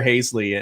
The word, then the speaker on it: Haseley: team names because sometimes sometimes people call me hazely right because that's how it looks like it should be pronounced but uh and i just kind of go with it i really literally i have two last names so um it's either hasley or hazley and and purple haze